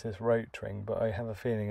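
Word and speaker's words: Rotring: used to pronounce this roach ring but i have a feeling it might be pronounced rottering um because it's german and rot ring just means red ring and they have red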